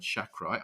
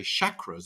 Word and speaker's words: chakra: i learned there something i've been mispronouncing the word chakra i say chakras it's about sh but of course there we heard mars h6 say chakra so that's uh a